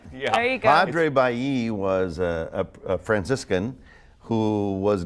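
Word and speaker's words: Padre Balli: The first question is, Scott, how do you pronounce the name of the park near Bob Hall Pier? Padre Bailly. Exactly. Okay. I know everybody wants to call it Bali. It reminds me of the Bali exercise equipment.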